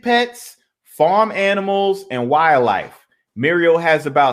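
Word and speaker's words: Merial: y'all Muriel real quick Muriel rhymes with cereal yeah now what what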